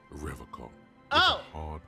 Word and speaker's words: Revachol: You said Revachol? I like to pronounce it the hard way. The old way. The Vespertine way.